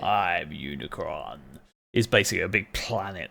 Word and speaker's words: Unicron: I think you might Unicron not unicorn I was close all right slap me own yeah Unicron I'm Unicron is basically a big